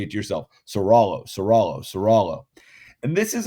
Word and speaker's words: Ciraolo: in about two weeks it's not sera olo it's serallo so california v serallo say it yourself serallo seralo serala and this